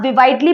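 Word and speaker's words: vividly: विविडली. विविडली होता है ताजा या फिर उज्जवलपन. विविडली को आप विवाइडली भी पढ़ सकते हो, अपनी अपनी प्रोनाउंसिएशन पे डिपेंड करता है.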